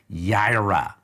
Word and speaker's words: Jireh: get it right here yaira yaira now that then is uh where we have come right here yaira that we have this yara we would say jira and and and jira there